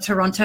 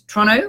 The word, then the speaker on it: Toronto: Isn't it Toronto? Not Toronto, it's Toronto. I think that's how the locals say it.